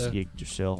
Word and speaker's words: Yggdrasil: It comes in on Yggdrasil or however you pronounce his name. It's Yggdrasil. Yggdrasil.